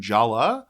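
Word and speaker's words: Jaller: culture just nonsense uh Jer jayer uh in IMDb it's spelled j a l l j a l l e r but everybody calls him Jala which yeah J me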